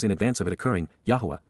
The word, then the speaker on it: Yahowah: Yahwa Yahwa God's personal name pronounced as guided by his Torah instructions on his high existence for our shalom reconciliation as our Eloha God.